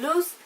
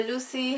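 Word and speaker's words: Luce: Lauren Kate is about a girl named loose or Lucy however you want to pronounce it her name is Lucy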